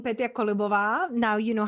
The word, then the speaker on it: Petia Kolibova: my favorite place it's instagram just my name peter columbova now you know how to pronounce it perfectly or just my website you